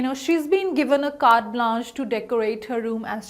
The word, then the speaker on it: carte blanche: it this way okay how about carte blanche carte blanche which is the correct pronunciation again word of a french origin and